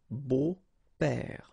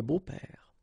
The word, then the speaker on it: beaux-pères: Des beaux-pères, okay? Remember the S, but then it's silent. Des beaux-pères.